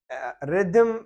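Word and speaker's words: rhythm: रिदम poetry में होता है। यहाँ आप देखें इसमें 2 एच आ रहे और दोनों यहाँ पे साइलेंट है, इसको हम पढ़ेंगे रिदम।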